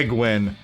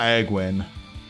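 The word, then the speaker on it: Egwene: spelled e-g-w-e-n-e oh yeah egwin is not eggwin it's like a queen yeah I've yeah that's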